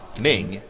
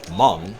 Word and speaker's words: Hmong: the time because I I read Ming but it's pronounced Hmong yeah but I always